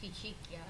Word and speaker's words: Ficicchia: And then Christina, I'm going to try to pronounce this correctly, Ficicchia? Close, Ficicchia. Ficicchia, who is the Executive Director at Empire Clean Cities.